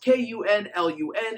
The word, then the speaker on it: Kunlun: Yes, Kunlun, spelled K-U-N-L-U-N. It is pronounced Kunlun, not Kunlun, as some people want to pronounce it.